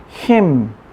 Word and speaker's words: hymn: 할 것이냐 이 말이죠 찬송가는 힘 캠 이렇게 발음합니다 하 이미 아니에요 햄 hymn 그러니까 어 헨 하면